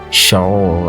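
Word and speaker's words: שָׁאוּל: And his Hebrew name is Saul. Actually, it's pronounced Shaul. I'm not sure I got it right, but it's actually after the first king of Israel, Saul, King Saul.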